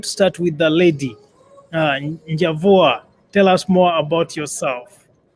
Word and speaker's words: Njavwa: Njavwa, tell us more about yourself. Sure. So my name is pronounced Njavwa.